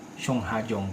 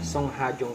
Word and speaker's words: Sungha Jung: ang pangalan niya ay shong hajong kung tama ako sa pronunciation s hajong pala ang dapat na pronunciation niya panonoorin natin yung